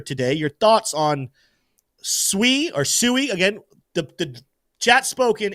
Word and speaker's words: Sui: Community say soie that I'm going back to sui I'm returning my roots suie is the pronunciation we're going with uh SM says is